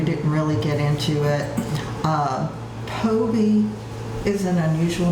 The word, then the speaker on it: Phobee: And I just tell people the H is silent, because the PH does not sound an F. Yeah, because you get Phobee, you get Phoebe. Most of the time, Phobee.